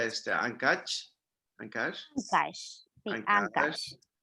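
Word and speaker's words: Áncash: Si nos vamos nosotros más hacia el norte, pasamos por, ¿cómo se pronuncia este? Ancash.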